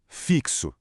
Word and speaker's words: fixo: É só prestar atenção na pronúncia destas palavras: táxi, tóxico, fixo. Dá para ouvir aquele som inconfundível de ks?